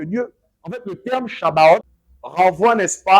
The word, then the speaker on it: Shabbat: Est-ce que vous savez que le terme Shabbat, en vérité, c'est Shabbat parce que le B se prononce V.